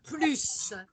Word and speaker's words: plus: de cet argument d'accord quand je mets plus négation je ne prononce pas le s quand j'ai plus addition je prononce le s ça va ça c'est